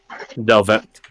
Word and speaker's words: Delvet: Delvet is spelled pretty phonetically. Delvet.